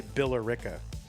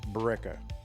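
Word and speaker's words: Billerica: Kind of like the names Bill and Erica, right? You're supposed to say Billera. But of course, locals say Ba.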